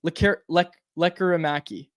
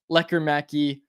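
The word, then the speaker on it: Lekkerimäki: corrected me on this it's le leaki le le leaki it's that that's how you say it lecki it's not leer macki or leera macki I'm not the pronunciation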